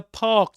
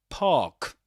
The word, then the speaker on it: park: I saw three squirrels in the park today. Park. Park. You don't say park, but park in this accent.